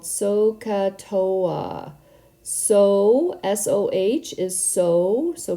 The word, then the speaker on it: SOHCAHTOA: here so it's called sohcahtoa so Soh is so so pronounced so ah cat like you're about to say the word cat and then tow tow ah so sohcahtoa say that word many